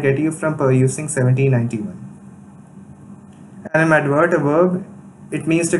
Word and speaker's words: animadvert: Animadvert, a verb, it means to comment unfavorably or critically. And its pronunciation is stressed on verse syllable, and here's a usage.